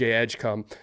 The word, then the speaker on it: Edgecombe: Cooper flag, VJ Edgecom, uh and that is how you say his name and I can't get over that.